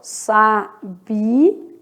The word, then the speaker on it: sabia: Sabia. Sabia separa, ó. Hiato. São sílabas separadas.